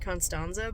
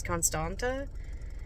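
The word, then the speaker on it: Constanța: for conata and con they keep pronouncing it constanza but it says Constanta in the synopsis so anyway I'm going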